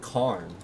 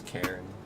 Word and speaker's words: Karen: I want to pronounce it Karn, but it's Karen.